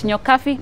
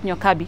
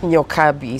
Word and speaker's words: Nyokabi: It's Nyokabi, not Nyokabi. Nyokabi, spelled with a B, pronounced as an F.